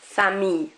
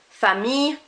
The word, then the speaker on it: famille: So fille rather than fille, famille rather than famille, and gentil rather than gentille. We are not pronouncing those L's outright. So that I-double-L-E is more of an E sound rather than an il.